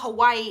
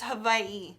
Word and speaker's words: Hawaii: I actually heard it's pronounced Hawaii. Like something like that. It's not Hawaii, it's Hawaii. It's like a V.